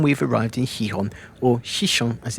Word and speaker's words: Xixón: Day four of our cruise and we've arrived in Hihon or Shishon as it's pronounced in Atorium.